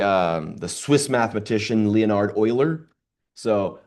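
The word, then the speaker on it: Euler: the Swiss mathematician Leonard Oiler. So I know it looks like Uler but it's pronounced Oiler.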